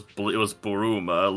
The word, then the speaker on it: Bulma: Yeah, it says, but it's Bulma, but if let me scroll up to try to see the Japanese pronunciation. Apparently in Japanese it was Buruma, literally bloom, so that makes slightly more sense.